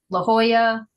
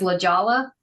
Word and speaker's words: La Jolla: And then you go to Southern California and La Jolla, all the ones with a double L are pronounced with a Spanish. So if someone says La Jolla, like you get to laugh at them.